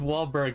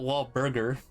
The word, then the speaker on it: Wahlberg: i i like mark wahlberg or whatever his name is mark i like yeah i can't do it how do you spell it i don't know it's like it's wahlberg not wall burger wahlberg i'm dead